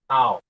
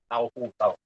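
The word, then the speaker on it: τ: Okay, we pronounce this one as tau. Okay, tau.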